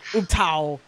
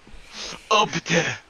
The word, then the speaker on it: Ubtao: There's like 3 different ways to say it. Ubteo, Ubtao, Upte. Upta. The O is silent in this. Fucking brutal. Upta.